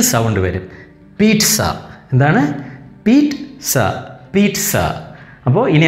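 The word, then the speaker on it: pizza: നമ്മൾ പറയും പിസ്സ, പിസ്സ ഹട്ടിൽ, ഔഫ് yummy delicious പിസ്സ, നമ്മളെപ്പോഴും പറയും.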